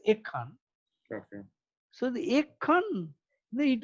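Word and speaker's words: এক্ষণ: In Bengali, we pronounce it as Ekhan.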